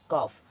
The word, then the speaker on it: calf: अब इसको वुड, और इसको, अब इधर एफ से पहले आया है तो CALF, तो का इसको पढ़ेंगे कॉफ।